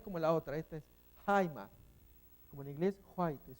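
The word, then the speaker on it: αἷμα: Acá tenemos la pronunciación Jaima, pero más bien es H, esta J es una J, no es como la otra, esta es Jaima, como en inglés white, es suavecita. Jaima, jaimatos.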